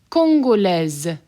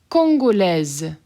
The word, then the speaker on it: Congolaise: Congolaise. Congolaise. Pronounce that S as a Z.